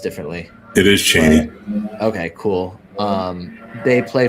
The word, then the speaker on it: Chaney: I don't know if it's pronounced differently. It is Chaney.